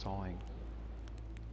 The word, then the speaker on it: sewing: was talking about yeah it's written suing but pronounced sawing like what what the